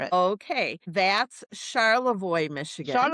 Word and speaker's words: Charlevoix: that I'm not going to even try to pronounce cuz I'll butcher it. Okay, that's Charlevoix, Michigan.